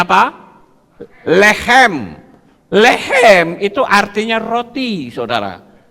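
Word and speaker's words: לחם: Bacanya apa? Lehem.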